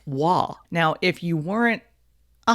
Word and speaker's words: Roy: his name is patrick his last name is spelled r-o-y so you would say patrick roy and you would be wrong his last name is pronounced wah now if you weren't